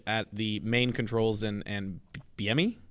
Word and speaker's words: Bieniemy: the main controls and Bieniemy? Eric Bieniemy, is that how you say it? Bieniemy. Oh, that's right. There's an extra little N thrown in there.